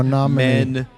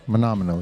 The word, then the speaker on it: Menominee: Well, first off, Menominee is pronounced Menominee. Men-amo-e. Menominee.